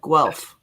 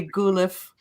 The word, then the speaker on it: Guelph: in a city called Guelph yuck Austin knows Rick well Fez yeah chorus some Americans they've actually pronounced I've heard Americans say goo Liffe yeah okay so it's